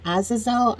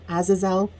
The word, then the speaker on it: Azazel: deal with the demon I think his name is azizel I'm not quite sure the pronunciation but I believe it's Azazel and as well actually